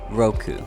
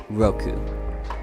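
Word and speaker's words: 六 (roku): but not least is number six which is pronounced Roku Roku and that will be all for today Mountain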